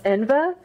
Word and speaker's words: Enva: So it's Enva, and then it's Dacre.